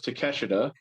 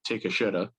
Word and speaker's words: Takeshita: So most underrated, number 1 was Takeshita, or because of the way his name is spelled and because Cornette likes to be Cornette, take a shitta.